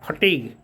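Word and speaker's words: fatigue: there weariness थकान उसके थकान के कारण एंड फटीग इसको पढ़ते हैं फटीग ध्यान रखिएगा इसका उच्चारण फटीग होता है परिश्रम और थकान के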